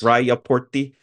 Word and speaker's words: Rajaportti: Yeah, and this reminds me of there's a famous Finnish sauna called Eero, you'll have to correct my pronunciation. What's that Yeah, sauna called? Rajaportti, yes. Rajaportti.